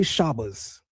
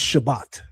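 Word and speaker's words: שבת: We don't say shabas, it's shabbat.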